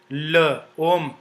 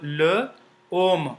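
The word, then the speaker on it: l'homme: before it like uh there is an example L om l means the as in English you know uh uh the definite pronoun the so l l l om om which means men so together they become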